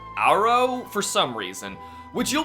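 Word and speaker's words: Agro: your unresponsive mirror is named aggro pronounced arrow for some reason which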